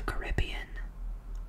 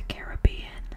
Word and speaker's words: Caribbean: This one is probably one that has a correct pronunciation, but what about the Caribbean? Or the Caribbean? Caribbean. You take a trip to the Caribbean, but the movie is the Pirates of the Caribbean.